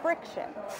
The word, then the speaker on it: Frixion: what is that word how do you pronounce that word friction friction oh my god and